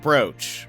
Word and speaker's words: brooch: this noise that plays and it's bro it's pronounced like brooch brooch brooch yeah yeah but why the double